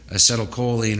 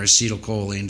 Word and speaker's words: acetylcholine: And another key chemical released in safety is acetylcholine or acetylcholine, depends how you pronounce it.